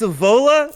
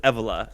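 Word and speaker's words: Evola: He just quoted Julius Avola. First of all, he said his name wrong. He said Julius Eva.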